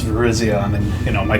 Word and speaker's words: Virizion: class I know this one cuz I always pronounce it Verizon and it's Virizion I mean you know my 10 yo brain